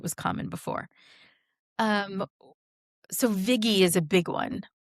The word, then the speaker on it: Vigie: Or the Vigi is the other one. The I didn't realize there would be so many alternative pronunciations to your name because to me it seems pretty self-evident.